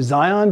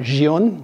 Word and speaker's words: Zhiyun: way I'm calling you Zion because that's how it should be pronounced not Gian there's no Jay in it it's a Zed so it's the Zion